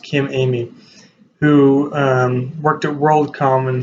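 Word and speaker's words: Emigh: interesting spelling of his last name but it's pronounced Kim Amy who worked at worldcom and handed up discovering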